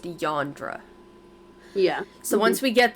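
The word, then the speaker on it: Eondra: ] her sister's name so it's yondra e-o-n-d-r-a but it's like pronounced yandra yeah so once we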